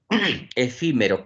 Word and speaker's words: efímero: Efímero. ¿Qué tipo de palabra es? La mayor fuerza de voz está última, penúltima, antepenúltima. Ah, en la antepenúltima.